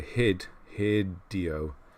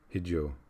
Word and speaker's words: Hideo: enough yeah hideo Kojima so we would say hid here Dio Kojima we're supposed to kind of flow over his name and not emphasize the the syllables hijo like that kind of hid you I don't know